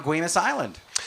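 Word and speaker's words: Guemes Island: We go to item number 3, which is a getaway over on Guimas Island. That's right, Stephen. You pronounced that correctly. You must be a Northwest native.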